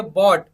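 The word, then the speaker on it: bought: Third देखिए बॉट, BOUT पढ़ेंगे तो क्या हो जाएगा, बॉट हो जाएगा पढ़ने में। तो यहाँ पर भी क्या हो गया, GH जो है वो क्या हो गया, साइलेंट हो गया।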